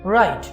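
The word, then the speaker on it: write: राइट। हमने W को क्यों नहीं प्रोनाउंस किया? बिकॉज डियर स्टूडेंट्स, इस वर्ड में W है साइलेंट, खामोश।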